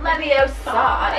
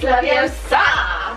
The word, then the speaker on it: Leviosa: It's not Leviosa, it's Leviosa.